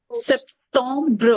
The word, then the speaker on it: Septembre: Septembre सेप्टोम, तो अभी तो रीड करेंगे ना, सेप्टोम्ब्र, Septembre ब्रेन ई नहीं रीड करना बच्चे, सेप्टोम्ब्र।